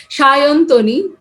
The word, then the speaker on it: Sayantani: the correct way yeah so in bengali we use this so as a we write s but we pronounce it as an sh that way it's a shintani the typical bengali one is shayan tony because as you know